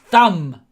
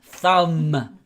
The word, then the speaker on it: thumb: thumb here it is thumb do not pronounce the b at the end the b is silent thumb this is your thumb